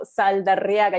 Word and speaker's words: Saldarriaga: I know Saldarriaga. You have to roll the R.